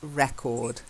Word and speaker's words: record: if it's got any verb form, it's to record. Okay? So we are recording this. Okay? And why do we record this? To keep a record. So try this sentence, learn this sentence. We record the sessions to keep a record. Okay? We record the sessions to keep a record. A record. A record. So if it's got the or a in front of it, it's the noun, and that means it's record.